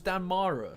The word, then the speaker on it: Damara: So it's Damara, so I've been saying it wrong this whole time.